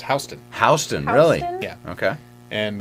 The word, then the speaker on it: Houston: of streets in New Year but it's it's pronounced boostin it's pronounced Houston Houston really yeah okay and the first time